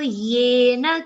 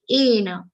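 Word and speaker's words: येन: Here, one mistake that happens is yena. The pronunciation for some people becomes like ena. That you have to check.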